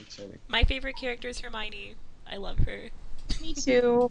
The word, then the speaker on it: Hermione: words she knew, so she pronounced it Hermy 1. Hermy 1. Hermy 1 Hermy Granger. one. I think a lot of people were like Uh, Hermione or whatever. Yeah. I Yeah. thought it was first. Hermione. I remember my sister like shoving the book in my face and being like, "How do you pronounce this?" And me at 11 being very confident and telling her it was Harmony.